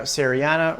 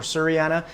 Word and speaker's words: Sierrana: Today I'm going to be talking about my very beautiful and fast growing monstera serana or Surriana, whichever way you want to pronounce it.